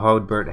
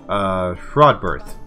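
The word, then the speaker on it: Rodberht: Your steward, Earl of Hodbert, has collected a special tithe in Wessex. I always get his name wrong. Rodberth.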